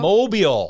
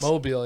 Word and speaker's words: Mobile: Draft starts in mobile oh Mobile Alabama mobile oh that's how you say it mobile yeah but I didn't know your time every day yeah it's mobile it's mobile yeah why do they spell